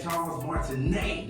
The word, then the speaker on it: Charles Martinet: Veronica Taylor in the building and we had Charles martinet did I say it right Charles yes you